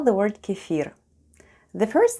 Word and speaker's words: кефир: Let's spell the word kefir. The first sound is K, then we have E, F, I, and R. And all together it's kefir, with a stress on the last syllable.